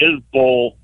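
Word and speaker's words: Isbell: Yeah, I I I butchered his name and I butchered Jeremy Isbull's name. I was calling him Isbel. I got corrected about 20 times. So, it's McGuir and Isbull, even though it's spelled Isbel.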